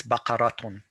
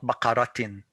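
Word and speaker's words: بقرةٌ: it is you know it's bakaratun not bakaratin and there are other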